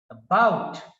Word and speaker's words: about: somewhat weaker and therefore the first syllable is weak and the second syllable is more prominent therefore we pronounce this word as about about and the first